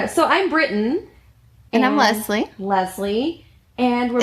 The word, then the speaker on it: Leslie: i'm britain and i'm leslie leslie and we're it's leslie with an s not a z as britain will pronounce